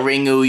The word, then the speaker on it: Ringu: DVDs be more distinguishable ringu is the Japanese word for ring you can call it ringu you can call it ring either way it doesn't matter but